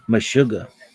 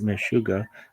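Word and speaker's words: meshuga: Mashuga I like this one. Mashuga borrowed from Hebrew. Mashuga. Mishuga means crazy in Yiddish. It can also be pronounced mashuga. Mashuga or even mashugi.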